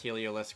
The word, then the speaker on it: Heliolisk: out how to pronounce heliolisk but um it's really not that it's really not that complicated a word it's just basilisk with helio in the front of it as in like the sun titan or whatever so